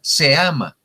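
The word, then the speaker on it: CEAMA: Y miren lo bonito que suena, se ama. Se escribe con C por ser conferencia, pero se escucha, se ama, lo que se ama, ¿sí?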